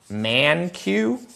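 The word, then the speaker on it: Mankiw: sources there's a good guy his name is man Q right here one of the most uh respected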